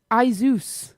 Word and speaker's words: Asus: silly yeah so sorry there's a computer brand called Asus I think we call it a s us basis the computer brand it's actually called a Zeus uh-huh I think that's